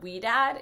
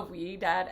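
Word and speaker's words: Ouidad: really so um i actually started using um we dad it's literally the best product ever it's spelled like o-u-i-d-a-d honestly this is not a wee dad ad but like get it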